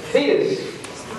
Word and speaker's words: Thetis: Thetis.